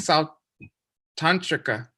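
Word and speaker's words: Sautrāntika: wow good thanks Kell you saved me perfect sou tantrica um did I say it right yes yeah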